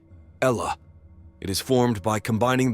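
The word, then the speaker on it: الله: In Arabic, the word Allah is pronounced as Ella.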